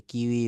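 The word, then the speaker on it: queue: লম্বা যে সারিবদ্ধভাবে দাঁড়ায়, এটাকে কিউই বলি, এটা হচ্ছে কিউই। কিউ ইউ ই ইউ ই, শুধু ইউ আর ই, কিউ ইউ ই ইউ ই ই, এটা কিউই বানানটা খুবই মজার, কিউ ইউ ই ইউ ই, কিউই।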